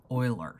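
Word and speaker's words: Euler: but I've been told that it is correctly pronounced or at least as close as I can get as something like Oilers so this is Oilers constant and the first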